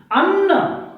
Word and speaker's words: अन्न: उच्चारण आप सही से कीजिए, अन्न और अन्य, यह, ठीक है।